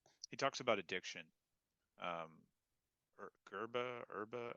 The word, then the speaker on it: yerba mate: Um, Herba. I want to say herbal mate. It kind of rhymes with that. Yerba mate.